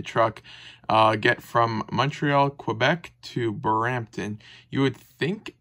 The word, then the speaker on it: Quebec: Quebec or I mean it's technically pronounced Quebec um all the way